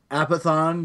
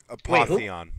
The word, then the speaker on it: Apotheon: of the PSN Plus, I've tried Apathon. Is that how you say that? Apotheon. It's pronounced.